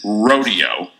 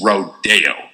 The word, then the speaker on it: rodeo: It isn't rodeo, it's rodeo.